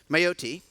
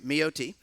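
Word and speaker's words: Mayotte: by the way and the pronunciation it's Maya T my OT sorry me OT and again this is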